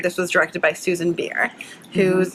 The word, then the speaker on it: Bier: So for the record, this was directed by Susan Bier, whose name I always mispronounce. It's B-I-E-R. Beer.